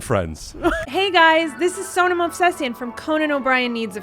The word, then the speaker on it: Movsesian: Last name, never been able to pronounce. No. Okay. Well, thank you for trying to. Movsesian? Movsesian. Movsesian. Yeah. Movsesian. Movsesian. Sussian?